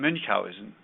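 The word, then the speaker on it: Münchhausen: days we called it mun Housen syndrome in English it's called Munch Housen but Mr mowen pronounced his name mowen that would be that's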